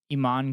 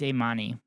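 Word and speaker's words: Imane: fuck that's frustrating yeah shout out Iman khif eain it's a it's ammani I pronounced it incorrectly fuck me I literally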